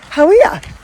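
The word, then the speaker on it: Hawea: But we thought we'd stop off at Lake Howea. Lake Howea. How good is that? I actually got back onto the pronunciation dictionary. How we are.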